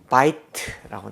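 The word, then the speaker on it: בַּיִת: 자, 그 앞에 바이트라는 말, 왜 이렇게 액센트 표시가 되어 있느냐 하면 자음, 모음, 자음으로 되어 있지 않습니까? 그러면 이게 음절이 하나인가 두 개인가? 두 개라는 거죠.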